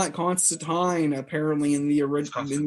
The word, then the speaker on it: Constantine: might name them constantine but even though the pronunciation of the name is uh constantine not constant tying in the comics is english yes it's constantine apparently in the original in the older one